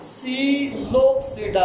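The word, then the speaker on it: Psilopsida: पहला ग्रुप इनका सीलोप्सिडा है। पी पहले लिखा हुआ, पी is silent here, to be noted, P is silent here.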